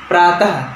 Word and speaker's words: प्रातः: दूसरा है दुख मतलब कष्ट होता है, प्रातः प्रातः, त के बाद अह है, ह के जैसा उच्चारण होगा तो प्रातः मतलब सुबह, ओके।